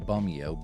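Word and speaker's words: Bumeo: normal way and then bumio b-u-m-e-o like a bomb Romeo as a last name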